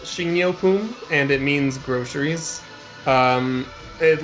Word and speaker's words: 식료품: So it's pronounced 식료품, and it means groceries.